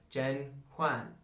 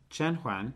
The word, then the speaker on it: 甄嬛: meet main character ener Jen Juan famously oh no I said it wrong just now Jen Juan jenan she's the main girl that's